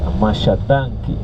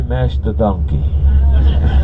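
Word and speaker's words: Masha danki: Don't say mash the donkey. No, don't mash the donkey. Masha, that's the way right. You have to say it right, okay?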